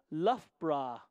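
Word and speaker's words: Loughborough: hundreds from great britain it's pronounced luffbra we got somebody from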